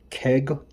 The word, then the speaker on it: CAIG: This is Deoxit D100 from I think it's Keg Laboratories, but it's spelled like uh it's spelled like Craig without the R.